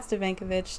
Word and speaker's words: Stefankiewicz: digital host actress and multi-platform digital personality kat stovankovic to the show welcome kat how are you